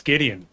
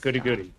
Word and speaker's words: Ghideon: No, my name's Ghideon. Ah, yes. Not goody goody. Ghideon. So you must have heard my name wrong.